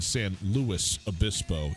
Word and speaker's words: San Luis Obispo: on Cal Poly in San Luis Obispo. You pronounce the S.